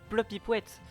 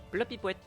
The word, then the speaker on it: plopyouette: de vidéo ah le plopyouette bah plopy poouette c'est ma façon de dire bonjour en quelque sorte P l o P i p W e t plopyouette question de azril à